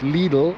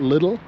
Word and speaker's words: Lidl: belief in the US it's pronounced lidle and not little.